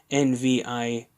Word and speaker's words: NVIDIA: I think that's how you pronounce that. NVIDIA.